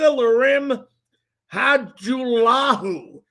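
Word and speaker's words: Lirim Hajrullahu: If you did not hear it, kicker Larim Hajulahu, that's how you pronounce it, has been signed as a kicker off the Washington football team's practice squad.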